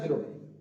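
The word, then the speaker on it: ب: তো বা উচ্চারণ করার সময় এই ঠোঁট দুটো মিলিত হয়ে উচ্চারণ হবে বা, বা।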